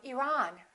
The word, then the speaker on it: Iran: at the next one did you say Iran or Iran it should be the second one he's from Iran he's from Iran let's look at the